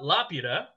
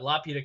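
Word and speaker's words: Laputa: and South America uh Lapita Castle in the Sky uh had its name changed for Western release because it is spelled l-a-p-u-t-a which presents to us Spanish-speaking members as La Puta which means the [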